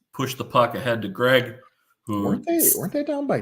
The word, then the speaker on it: Greig: And I recently discovered as a result of this incident that it is in fact Greg, not Greek on the pronunciation.